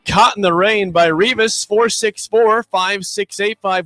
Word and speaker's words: Revis: Revis, R-E-V-I-S, like Darrell Revis. like rhymes with Beavis.